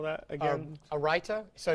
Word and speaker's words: raita: A raita. So it's spelled R-A-I-T-A.